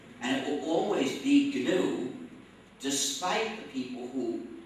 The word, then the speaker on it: GNU: don't you call it pronounce it if you pronounce it new you'll get people confused you see you seem